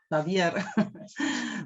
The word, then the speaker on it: Javier: Se pronuncia así, ¿no? El apellido con J, el nombre. Javier.